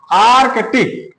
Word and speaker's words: आर्कटिक: आर्कटिक रेखा ध्यान दो उच्चारण में बहुत ध्यान देना है आर्कटिक आर्क ये हो गया आर्कटिक रेखा आर्कटिक रेखा